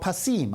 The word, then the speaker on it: Passim: both performers and audiences yes we're talking about passim I had pronounced it incorrectly in the beginning but now